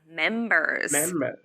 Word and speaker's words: members: air there good yeah the second one is members she forgot to pronounce the sound at the end remember her family has